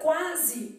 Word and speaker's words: quase: formando aqui um dígrafo na palavra quase o é pronunciado quase tá vendo Então como esse Oi pronunciada que a gente tá bom mano é um ditongo então uma palavra quase eu tenho aqui o pronunciado eu vou colocar aqui Z só para a gente identificar que esse é esse tem som de z nós já sabemos